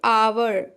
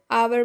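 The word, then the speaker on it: hour: अब हम देखेंगे आवर, आवर मीन्स घंटा, जो कि एच से स्टार्ट है और कॉन्सोनेंट लेटर है, जबकि इसका उच्चारण जो है आ से स्टार्ट हो रहा है, जो वॉवेल साउंड है, तो इसलिए हम यहाँ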